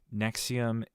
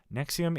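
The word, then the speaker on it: NXIVM: not a pharmaceutical um Nexium is a human is a sex trafficking cult uh started by it's spelled like n X i v m it's like a cute little play on phonetic you know Roman letters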